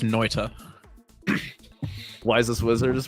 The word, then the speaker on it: Noita: No, man, it's pronounced Noita.